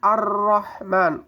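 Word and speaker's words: الرحمن: Kemudian Ar-Rahman, ro-nya fathah ini tebal. Ro fathah itu dibaca cara bacanya tebal. Fathah atau dhamma dibaca tebal.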